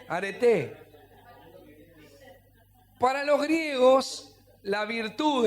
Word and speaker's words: areté: En realidad, este es con acento en la e, no en la e final. areté.